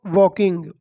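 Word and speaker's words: walking: अ gentleman व्वे किंग वाकिंग इसमें silent इसको पढेंगे वाकिंग through elephant camp एक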